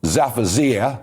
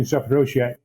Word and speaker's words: Zaporizhzhia: But when you see in that small Ukrainian town of Zaporizhzhia, I think that's the right pronunciation, but the biggest nuclear plant in Europe,